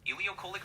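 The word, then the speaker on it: ileocolic: charge my my phone um so charging PT ilio colic artery am I saying it right yep you got it ilio colic artery is spot on and why is the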